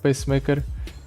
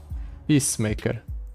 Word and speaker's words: Peacemaker: Another X-Tech Fabricator on the Piltover Pacemaker. Sure. Peacemaker, not Pacemaker. I've been saying it wrongly this entire time.